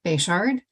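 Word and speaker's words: Bechard: next two speakers then will be uh bishard and Hazel Chandler whenever you're ready yeah thank you for the opportunity to testify my name is bashard and that's spelled b-e-c-h-a-r-d and I am a senior policy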